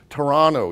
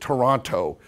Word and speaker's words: Toronto: the restroom anymore it's the washroom and you pronounce it Toronto you don't pronounce it Toronto okay these types of immersion things and so